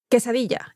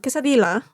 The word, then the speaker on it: quesadilla: to make a proper which is by the way pronounced quesadilla. It's not quadil. It's not quadilo.